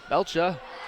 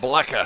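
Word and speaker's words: Blecha: And now here's Belcha, and a shot no good off the iron. And Cheylin's ball. Now, if you could tell me once again, how do you pronounce that? Blecka. Blecka. Okay.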